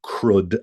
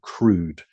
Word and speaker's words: CRUD: we did was write crud applications now that sounds like I'm mispronouncing crude okay but it's crud and I'll just type